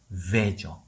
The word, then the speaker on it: veil: 심지어 배도 아닌 veil죠. veil이에요. veil. 발음교를 볼게요. V-E-I-L. 얘는 veil입니다. 강세 없죠? 일성음으로 가요. 쭉. 그리고 진동. V니까 veil 가는 겁니다. 3자음으로. veil. 그쵸? 마지막 L 발음까지 veil.